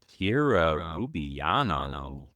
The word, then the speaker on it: Kira Rubiano: Welcome, Kira Rubiano. Did I pronounce that right?